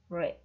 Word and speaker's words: read: No, read se escribe de la misma forma en pasado, pero se pronuncia read.